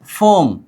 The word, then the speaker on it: 봄: उच्चारण कीजिए। फोम। क्या? फोम। क्यों फॉर्म? क्योंकि ब आगे आ जाने पर ब आगे आ जाने पर हमेशा उच्चारण क्या करते हैं? फ करते हैं।